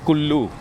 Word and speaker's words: কুল্লু: আমরা এখন কুলু শহরের মধ্য দিয়ে যাচ্ছি। আমরা বাঙালিরা বলি কুলু। কিন্তু এমনিতে উচ্চারণটা হচ্ছে কুল্লু। দুটো এল আছে।